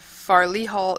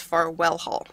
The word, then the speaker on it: Farwell Hall: apologize i just realized i said farley hall it's far well hall sorry wrong wrong pronunciation of the whole i just i saw it written i was like oh yeah it's not farley it's far well add an extra sound in there alright well let's begin